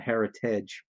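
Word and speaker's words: Heritage's: It's not heritage, but it's spelled that way. The people that own it, that's their last name, and it's actually pronounced heritage.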